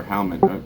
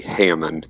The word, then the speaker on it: Hammond: Or Halman. How do you say your name? It's actually Hammond, but it's a Greek name.